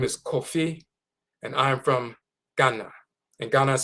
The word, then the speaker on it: Ghana: Because you're so accustomed to saying na when you see an a at the end of an English word. We're not accustomed to having a or ah being ah. So we'll read g a j n a gana and we'll say ghana.